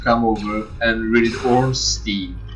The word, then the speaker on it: Ornstein: That's a German name. Trust me, it's a German name. Ornstein.